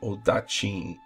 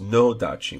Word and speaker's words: odachi: they also have a odachi, which is, of course, a Japanese great sword. Often it's pronounced nodachi with an N in the front of it, but that's their interpretation.